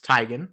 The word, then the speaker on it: Teigen: Bennett you got Chrissy Teigen tygan actually she's corrected everybody on how to say her last name it's tygan that doesn't sound as